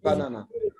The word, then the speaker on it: banana: Banana has 3 syllables. The first and third syllable is unstressed, and we can say it in a schwa sound. But the second sound is na, na, na. Right? Is stressed and very strong.